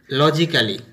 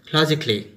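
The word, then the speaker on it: logically: যেমন ধরো আমরা এটাকে অনেকেই বলি লজিক্যালি, দ্যাটস রং প্রোনাউন্সিয়েশন, এটা হবে লজিক্যালি। নেক্সট এটাকে বলি আমরা রোমান্টিক্যালি,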